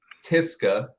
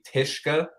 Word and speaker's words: Tyszka: So it's Tiska. Tiska. Yeah. So the Z. So it's Lithuanian. Tiska. Okay, Yeah. it's So it's much easier it's than I thought. Lithuanian. If we wanted to pronounce it the Lithuanian way, the SZK is like a sh sound. So it would be Tishka.